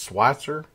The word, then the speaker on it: Switzer: It's Switzer. And I don't know why I pronounced it Switzer.